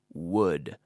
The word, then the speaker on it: would: solve the problem now make sure you're pronouncing that properly wood wood wood I wish he would